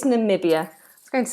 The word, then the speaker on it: Namibia: no no interesting no and nambia is it nambia N I wouldn't have put that eye in there no I'm absolutely wrong I'm absolutely wrong it's Namibia I was going to